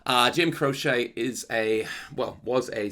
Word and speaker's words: Croce: out how to say his name uh Jim crochet is a well was a singer songwriter in